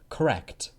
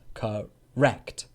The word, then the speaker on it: correct: this word in a British accent sure it's correct correct correct so the first syllable Cup is a weak cup and then the second syllable is stressed correct correct correct correct Jessica I could speak two